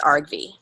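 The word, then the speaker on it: argv: process Arg V okay yeah and and we pronounce it Arg V so I'm gonna say input and process Arg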